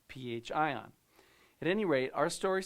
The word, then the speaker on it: pHion: Now, I understand it looks like fion, but it is pronounced pH ion.